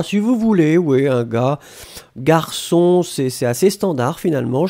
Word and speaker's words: gars: Ouais, faites attention, Ashley, un gars, c'est G-A-R-S. Hein. Vous avez un S à la fin qu'on ne prononce pas, mais c'est, il n'y a pas de problème, effectivement.